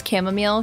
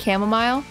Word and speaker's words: chamomile: it's satisfying to me you pronounce it chamomile not chamomile chamomile you know Kim it's a nice meal of tea cam what is